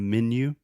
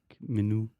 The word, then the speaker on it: menu: So a lot of people want to say like menu or something like that. Menu. Yeah. In English, we say menu. So just like man, more than one, man, men, menu. Like me and you, menu.